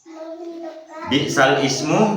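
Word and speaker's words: بِئْسَ الِاسْمُ: Bi'sal ismu dibaca bi'salis ya. Cara bacanya sudah ada di keterangannya di bawahnya. Halaman 22. Bi'sal ismu dibaca bi'salismu.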